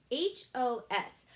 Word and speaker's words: hose: would that say ah-ha how do we make it say hos we add a super silent e to the end right super silent e pokes the vowels to make them say their names I hope you got